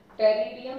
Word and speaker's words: Pteridium: टेरिडियम, P silent है. Terrace, यहाँ पे भी पी साइलेंट है. एंड मार्सेलिया. Pteridium, Pteris and Marselia.